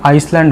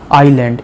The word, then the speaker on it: island: আচ্ছা, ISLAND এটাকে উচ্চারণ কিন্তু আইসল্যান্ড হবে না, আইল্যান্ড, এসটা উচ্চারণ হবে না।